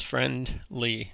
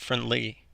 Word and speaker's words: friendly: two-syllable adjective where the stress is on the first syllable so um friendly is an example of that it's friend lee not friendly another example that's on